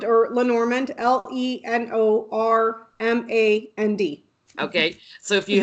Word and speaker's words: Lenormand: I'm here with Becca from House of Lenormand.